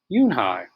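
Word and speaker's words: Unhei: it's spelled u n h e i it's pronounced yoon hai oh it's you hey the boy said like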